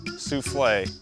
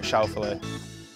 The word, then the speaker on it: Schauffele: Here are some ways my name's been pronounced. Schauffele, Schuffle, Souffle, Scaffler, Xander, Schauffele, Lee, Shovel, Xavier. That was actually one of them. The guy never got the words out. My name is Xander Schauffele.